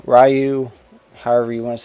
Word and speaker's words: Ryu: play as Kumi ayani Ryu rayu however you want to say his name I call him rayu but I'm sure some people call him Ryu that's probably the actual pronunciation of the name and kunoichi that's like